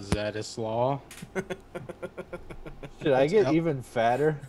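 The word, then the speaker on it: Zdzisław: A couple fucking crybabies in the fucking chat are saying it's pronounced Zdzislaw Beksinski.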